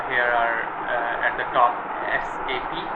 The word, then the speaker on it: SAP: Let me tell you the pronunciation SAP. Some people call it SAP. Actually it's not SAP. When we go to pronounce a word in the capital letters, specific keywords that called by word by word, character by character, like SAP.